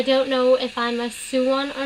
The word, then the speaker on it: Sone: Okay, so it says a Sone, S-O-N-E, pronounced Suwon, is a hardcore lover